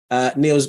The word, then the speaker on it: Niels: So I'm just making sure I'm pronouncing your name correctly. Is it Niels?